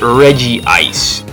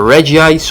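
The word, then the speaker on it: Regice: steel for me and no it is not pronounced Reggie ice no matter what the anime and no matter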